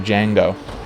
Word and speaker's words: Django: Just a proper class act to Django. I know the D is silent, but I just want to drive that home.